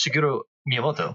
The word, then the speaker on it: Shigeru Miyamoto: You know, you got it almost. It's Shigeru Miyamoto.